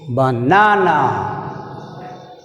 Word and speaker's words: banana: బనానా, బనానా, బనానా. See here, second syllable is stressed.